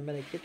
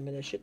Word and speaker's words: malachite: C'est de la malachite ou de la malachite, dépendamment comment vous prononcez.